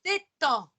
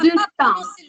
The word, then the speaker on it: détends: Tu dois prononcer je détends. Alors, je détends. Voilà. Le Oui, D et le S non si devono sentire.